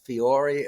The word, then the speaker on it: Fiore: And my favorite might be a Nevada Republican named Michelle Fiore. Am I pronouncing her name right?